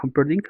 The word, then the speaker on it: Humperdinck: Buttercup ama a Wesley, el el el granjero Wesley, pero el el príncipe Humperdinck, creo que se llamaba Humperdinck, sí se pronuncia así, eh quiere a Buttercup para sí,